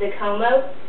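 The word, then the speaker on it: Zikomo: Hello is pronounced as Mona, thank you is Zakomo, village is Munsi, and food is Chakuda, water is Matza, and bed is Kama.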